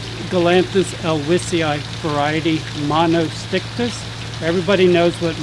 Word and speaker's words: elwesii: people would pronounce it Elwesii because Mr. Elwes did not have a cold, he was not wheezing.